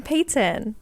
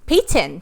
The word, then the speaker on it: Peyton: new yeah and i'm peyton peyton payton it's hard to say my name without the tea like that though because everyone thinks i'm saying cake yeah i noticed that